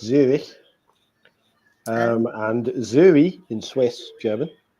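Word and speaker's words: Zürich: Zurich, which in German is pronounced ever so slightly differently because it's Zurich, and Zuri in Swiss German is as France attack, but now there's a free kick.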